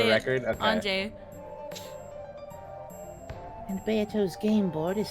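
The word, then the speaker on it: Ange: the girl was Anjay. I'm like, yes. No, that's how you say it, right? Yes, that's how Just you for say the it. record? Okay. Anjay.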